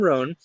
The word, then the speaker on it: Rohn: is Rohn.